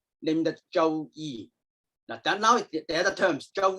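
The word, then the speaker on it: 周易: also refer to this book as another name, Zhou Yi. Okay. Bien, lo que dice Donald es que bueno, el libro que llamamos I Ching también se lo conoce como, how do you pronounce it? Zhou. Zhou Yi.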